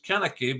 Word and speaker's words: Koenecke: uh all right yeah another way I pronounce my name is kaneki but that's okay I